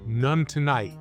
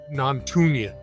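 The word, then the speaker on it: Nontoonyt: And it's pronounced none tonight, right? None tonight. Yes. Like you're going to get none. Because I've I've heard some some wild pronunciations. Oh, really? Yeah. Um, non-tunian and things like that.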